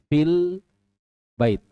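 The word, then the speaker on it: فِي الْبَيْتِ: itu ditiadakan jadinya apa asalnya Fi menjadi langsung lam fil fil bait ada tidak yaanya diucapkan tidak ada lagi ya Jadi dihapus secara pengucapan secara lafaz Tapi tidak secara tulisan ya tulisannya masih tetap ada perhati ya jadinya fil Baiti apa yang berubah apa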